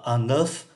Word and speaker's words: œuf: Trứng số ít đọc là un œuf, số nhiều đọc là quelques œufs.